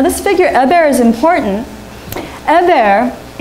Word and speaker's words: Eber: Eber, his name is actually also pronounced Ebiru. Or it can actually be pronounced Hebiru, which sounds like Hebrew, right?